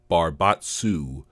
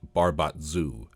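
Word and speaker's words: Barbatezu: For instance, the Outer Planes Appendix says Barbatsu is pronounced Barbatsu, but I see no reason that the S shouldn't be a Z to get Barbatzu. After all, this is how it's spelled.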